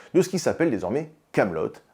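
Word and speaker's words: Kaamelott: ce qui s'appelle désormais camelotte avec 2A pour Alexandre Astier et de thé pour être bien sûr qu'on prononce bien le truc correctement et CT lui commande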